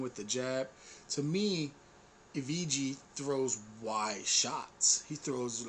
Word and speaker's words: Evgeny: To me, Evgeny throws wide shots.